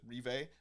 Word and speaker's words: Riva: Let's see, and then Diana Marie Riva, I think is how she pronounced it. Rive. It's not River.